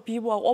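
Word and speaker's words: vivo: 중국에도 계속 그냥 영어로 비보하고 오포라고 씁니다.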